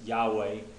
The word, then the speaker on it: Yahweh: conclusion that the um what would be the best pronunciation for me that I felt best with was Yahweh for the Tet Graton and Yeshua for the son now in the Old